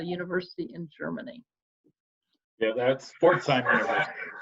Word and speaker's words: Pforzheim: here, Rob, because I don't know how to pronounce this. It's a university in Germany. Yeah, that's Pforzheim University. Pforzheim.